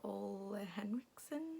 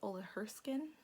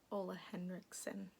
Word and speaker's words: Ole Henriksen: Also I use the Ole Henriksen, is that how you say it? I always forget. I always thought it was Ole Herskin, which doesn't make sense. There's an N in there. Ole Henriksen, I think that's it.